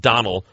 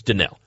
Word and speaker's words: Donnell: And people need to learn how to pronounce his name. It's not Donald. It's Donnell.